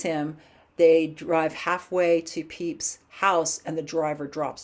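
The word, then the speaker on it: Pepys: writers to really explore that next up samuel peeps that's how you pronounce that next up samuel peeps he was a writer right after shakespeare so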